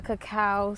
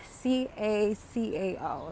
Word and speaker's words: cacao: recognized my growth so I am attending a cacao Ceremony this evening for those of you who